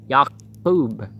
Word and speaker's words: Yaqub: Yaqub is how you pronounce Jacob. So it's not a C or a K, it's a Q, and there are no J sounds, so.